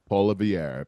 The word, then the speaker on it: Poilievre: Polivier. Poilievre.